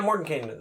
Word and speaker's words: Mordenkainen: Oh, yeah, Mordenkainen.